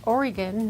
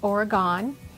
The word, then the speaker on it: Oregon: home state is the state of Oregon it's pronounced Oregon not Oregon if you pronounce it wrong we will gently